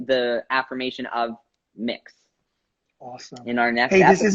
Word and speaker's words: Mx: and additionally we will also be talking about mix MX which is like I am mix lexcorp